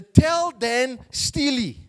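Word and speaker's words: Tel Dan Stele: piece of stone is called the Dan the tell Dan Steely okay that's how they pronounce it and I want you to read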